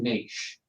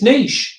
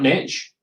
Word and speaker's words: niche: do you pronounce it it's definitely niche there's no tea in it what no hey it's niche not niche okay yes dear you